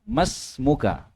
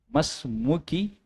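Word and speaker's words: ما اسمكَ: Hamid berkata, "Masmuka ka ini kalau di fathah ka berarti kamu laki-laki. Kalau ki kamu perempuan." Jadi kalau salah baca ya nanti salah artinya. Kalau saya bertanya Mas Muki.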